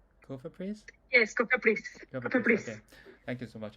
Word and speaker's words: Cofepris: Does uh do I Do I pronounce it correctly? Cofepris? Yes, Cofepris.